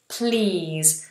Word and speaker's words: please: Please. So I'm asking you politely, I'm using the word please. See how I go straight into the E.